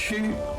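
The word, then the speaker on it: Qu: Is it Q or Chu? It's rare for a Chinese to say the Q though. Let's listen to this. Chu.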